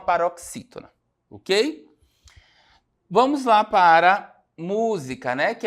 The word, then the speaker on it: música: Não é a sílaba tônica não é a última, não é a penúltima, é a antepenúltima, né? Então, música, tá? É uma palavra proparoxítona, certo?